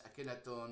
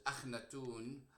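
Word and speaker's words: Akhenaten: Again, we go back to Akhenaton, and I don't know if it's Akhenaton or it's Akhnatun as I pronounce it, and I think the Kha existed in Old Egyptian, so I can say Akhnatun.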